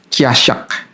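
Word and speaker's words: חָשַׁק: Nah, kata melekat dalam bahasa Ibrani itu artinya adalah casyak. Kiasyak ya dibacanya begitu.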